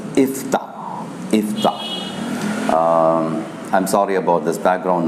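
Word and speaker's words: יפתח: In Hebrew, the word Jephthah is pronounced as Iftah.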